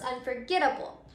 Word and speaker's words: unforgettable: able, the word becomes unforgettable. So now let's say that word unforgettable out loud. Unforgettable. So as you can see, before we added the suffix, our word ended with an accented syllable.